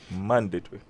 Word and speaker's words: mandatory: language is sometimes so mandatory yes if you want to say it right that's how you say it okay the stress is on uh the first syllable and that's how you say it right mandatory yes it